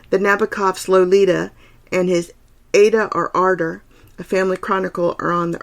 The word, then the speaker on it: Ada: It's Ada, not Ada, as it looks. You rhyme it with ardor.